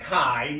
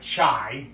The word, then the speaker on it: chi: So chi-square is pronounced chi, even though it looks like chai.